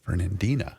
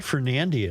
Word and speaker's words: Fernandina: Fernandina. I have been pronouncing it wrong. Fernando. That's not Fernandia. It's Fernandina.